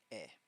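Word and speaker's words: え: The is pronounced like in exotic. It is a short sound at the front of the mouth, so be careful not to draw it out. Eh.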